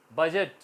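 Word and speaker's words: budget: है गरज की ना तो दी यहां भी साइलेंट है बजट इसमें भी साइलेंट है गीता बजट बोला जाएगा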